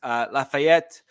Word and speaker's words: Lafayette: Lafayette. Yes, I did pronounce that with a French accent. That's ETTE, which is typically French, so just deal with it.